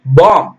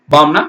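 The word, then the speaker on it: bomb: எழுத்து அவசியம் போடணும் கவனிங்க பிக்கு ஒளி இல்லை சத்தம் அது இல்லை பி ஓ எம் பி பாம் பாம்னா வெடிகுண்டு சரிங்களா பாம் சி ஓ எம் பிம் gonna சீப்பு பி உச்சரிக்க கூடாது ஆனா பி எழுதணும் டி ஓ யூ டி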